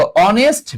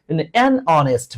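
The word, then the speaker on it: honest: দেখো অনেস্ট man adjective আর noun. Adjective আর নাউনের আগে আমরা জানি এ অথবা এন বসে। এই উচ্চারণ অ এর মত হয়েছে। হ্যা। এখন তো আর এই হ এর মতো নাই।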